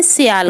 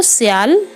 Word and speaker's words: SIAL: स्थल मंडल की जो ऊपरी परत है हम उसे भूपर्पटी कहेंगे, और इसी को इंग्लिश में सियाल कहेंगे। तो जो सियाल है इसकी स्पेलिंग है SIAL, सियाल।